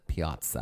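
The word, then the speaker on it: piazza: to have a Piaza those of us from the musical theater will and always will pronounce it Piaza because of the light in the Piaza musical the it was a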